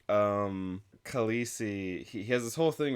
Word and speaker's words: Khaleesi: But I know that everyone who's read the book and seen that word is going to pronounce it Khaleesi. Yeah. So it just gets to be Khaleesi.